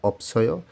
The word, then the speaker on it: 없어요: নিচেরটা অপসয় উচ্চারণ হবে, কারণ এখানে ডাবল বাচ্ছিম আছে।